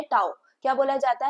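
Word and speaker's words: tau: फिर ये एक न्यू सिंबल इंट्रोड्यूस हुआ है एंड इसको बोला जाता है टाउ। क्या बोला जाता है? टाउ। आप इसको ऐसे जो है स्पेल प्रोनाउंस कर सकते हो।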